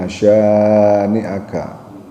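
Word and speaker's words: شانئك: ta Kautsar pakai tsa nah ini Sya pakai syin pakai syin menurutnya agak Monyong itu ada titik tiganya Inn Inn syaniaka hualal abtar baik Ee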